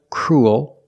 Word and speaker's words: cruel: They all have the ooh sound plus a dark l. Like pool and cool.